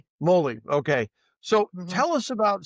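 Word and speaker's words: mōlī: And you and your ancestors have a lot to do with your connection to is it pronounced Moli or Moly? Moly. Moly.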